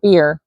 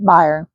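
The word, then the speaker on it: bier: I'm reading it wrong it's supposed to be beer I don't know I always heard it Byer b i e r buyer maybe I'm pronouncing it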